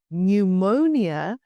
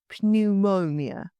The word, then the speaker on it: pneumonia: The silent P shows up in words derived from Greek.